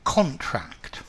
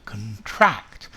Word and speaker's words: contract: Firstly, as a noun, a contract. Contract. But as a verb, to contract. To contract. So as a verb, the stress is on the second part.